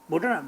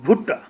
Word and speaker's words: Bhutta: You don't pronounce me Bhuta. This is Bhuta. Mostly the English people used to call me, hello Mr. Bhuta. Bhuta na, Bhutta. Bhutta.